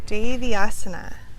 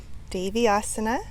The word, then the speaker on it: Deviasana: You'll hear it pronounced Devi or Devi. Deviasana or Deviasana. You can let me know if you have a preferred way of saying it. I've heard it pronounced both ways.